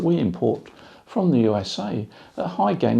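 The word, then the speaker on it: Hy-Gain: High gain is spelt H-Y-G-A-I-N and not H-I-G-H.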